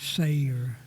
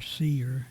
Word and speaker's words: Seir: and uh he was going to be going into battle against the children of Ser or Seer depending on how you want to pronounce it.